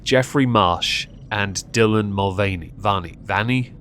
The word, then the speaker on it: Mulvaney: Vanny? I'm going to go with Dylan Mulvaney because in Black Flag Assassin's Creed there's a pirate called Vane, and it's spelt V-A-N-E.